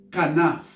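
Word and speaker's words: כנף: olha só, ela assim na sua transliteração nós pronunciamos eh canaf.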